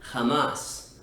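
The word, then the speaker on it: jamás: h is always silent words that include the hota are words like julio and hamas julio meaning july and hamas meaning never ever um includes the h sound but you can hear that it's not actually articulated and the same is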